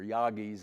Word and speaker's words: Yagis: Uh I think all of us have probably used Yagis uh or Yagis as it's supposedly pronounced.